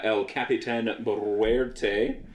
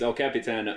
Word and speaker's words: El Capitan: ho ho and uh El capan which is not how you pronounce that it's El Capitan mte for all of